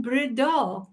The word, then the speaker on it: Breda: And Breda, Breda. Okay, that was, yeah, I put the emphasis on the wrong syllable.